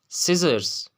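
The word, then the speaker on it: scissors: अब रूल क्या है, अगर किसी लफ्ज़ में सी से पहले एस आता है तो सी हमेशा साइलेंट होगा। लाइक आपके पास कुछ एग्जांपल्स हैं। सेंट, खुशबू, सेंट, सेंट। साइंस, साइंस, इल्म। सिजर्स, सिजर्स, कैंची, सिजर्स।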